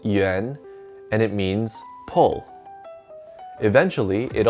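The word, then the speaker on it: 援: This character is pronounced yuán, and it means pull.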